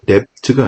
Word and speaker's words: debt: 여기서 B는 빨간색으로 표시해놨죠. 묵음이라고 합니다. 발음하지 않습니다. 그래서 debt가 아니라 debt, debtor가 아니라 debtor 이렇게 발음하셔도 되고요. 그러셔도 보시면 우리에게, 뭐뭐에게가 되겠죠.